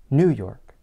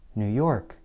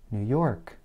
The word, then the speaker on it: New York: In general, Americans place more stress on the last word of a place name.